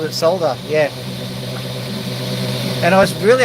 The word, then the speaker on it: solder: I actually pronounce it solder with an L in there because it's spelled with an L. But I'm in the minority. Most people call it soda.